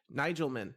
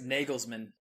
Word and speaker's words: Nagelsmann: This guy Nigelmann, right? I think is Germany's international coach. And did I pronounce that right? It's Nagelsmann.